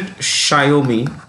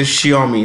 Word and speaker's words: Xiaomi: How do you pronounce it? Xiaomi. Or you can say Xiaomi. No harm. Both are right.